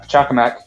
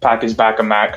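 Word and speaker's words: Pachacamac: the knuckles clan side we have pachakamak uh who you know not pakis bagamak not uh whatever silly name people call him uh his name's not that hard to pronounce once you get your mouth around it but he was the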